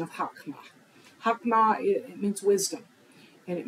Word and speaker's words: chokmah: the word wisdom, it uses the Hebrew word chokmah. Now, in our study, there may be a slight variation on how the Hebrew word chokmah is transliterated.